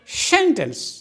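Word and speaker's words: sentence: দ্বিতীয় অংশ হলো টেন্স এরও প্রথম অংশ জোর হবে দ্বিতীয় অংশে জোর হবে না উচ্চারণটা হবে সেন্টেন্স সেন্টেন্স আর আজকে আমরা আরেকটা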